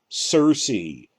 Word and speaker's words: Cersei: So, I mean, Sarah, Cersei, both spelled with a C, a soft C like that, as part of a naming scheme.